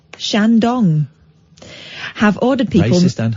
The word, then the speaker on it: Shandong: But authorities in Jinan, a city of around 8.7 million people in Shandong province... Well, don't say it like that. Shandong. You just emphasise the word dong.